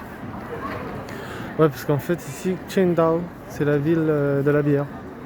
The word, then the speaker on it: Qingdao: Parce que le Q se prononce Ksh. Qingdao.